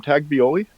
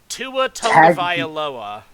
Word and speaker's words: Tua Tagovailoa: Also, how do you pronounce my quarterback's name? Taglioli? Tua Tagovailoa.